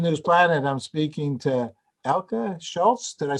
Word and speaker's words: Elke Scholz: I'm speaking to Elke Scholz.